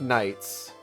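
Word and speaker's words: Khnights: short for kasac Knights no it's k h n i g h t s it's just you pronounce Knights but with the k his puppet's name is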